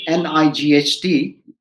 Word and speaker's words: night: word knight is and uh just the word n-i-g-h-t right it is non-phonetic n no i it